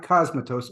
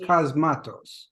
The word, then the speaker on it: Cosmatos: to pronounce his name not cosmetos cosmatos yeah that's how I I referred to him and he didn't correct me so he is of